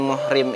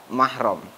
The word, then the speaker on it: mahram: Ini bukan muhrim sayaah itu sebenarnya secara bahasa kurang tepat karena yang dimaksud dengan muhrim itu adalah orang yang sedang beriham sedangkan mahram adalah orang yang haram kita nikahi jadi yang benar di dalam pengucapan itu adalah mahram yaitu orang yang haram untuk kita nikahi dalilnya ada di dalam